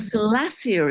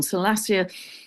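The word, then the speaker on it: Salacia: And Salassia is another one. Salassia in myth is mermaid energy.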